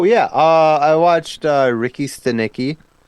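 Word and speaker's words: Ricky Stanicky: uh I watched uh Ricky steni uh oh you said it right this time I did yeah all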